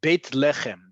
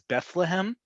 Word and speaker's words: Beit Lechem: So it's Beit Lechem, the town you're referring to in transliteration that might be called by some languages Bethlehem. In Hebrew is Beit Lechem. We don't have a th in Hebrew.